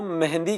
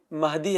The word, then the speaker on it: مہدی: رضی اللہ تعالیٰ عنہ۔ کچھ لوگ ان کا نام جو ہے نا وہ مہندی کہتے ہیں، مہندی، یہ غلط تلفظ ہے، وہاں پر این نہیں ہے، وہاں پر نون نہیں ہے، مہدی ہے وہ۔ اور کچھ لوگ ان